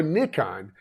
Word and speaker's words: Nikon: at the show was the Nikon Booth or Nikon as they pronounce it everywhere outside of the US uh the Nikon booth